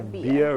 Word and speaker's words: Bia: Russ featuring Or- Bia. whom? B.I.A.? Yeah, I think it's Bia. Bia or B.I.A.? Yeah, like Bia.